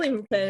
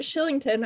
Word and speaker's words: Kylington: Like he's It's like just turn around, like Shillington nope. and Calgary. How would you get Shillington out of a name that's spelled Kylington? Yeah, I don't know.